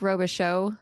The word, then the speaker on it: Robichaud: so close it's Roba show the D is silent and I'm in Port